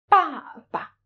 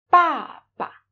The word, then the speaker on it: 爸爸: 爸爸, 爸爸. As when you pronounce the neutral tone, you lose this stress.